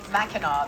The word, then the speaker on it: Mackinac: all put together also set on mackinac island well that's where they film mackinaw they call it sorry australians trying to